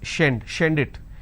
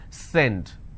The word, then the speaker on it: send: You will end up pronouncing this as shend it. It's not shend, it's send.